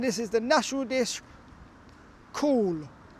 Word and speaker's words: Cawl: Yes, and this is the national dish, Cawl. It's pronounced like cow apparently.